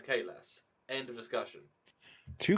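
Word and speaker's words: Kahless: what i mean like if the guy himself says his name is k less end of discussion two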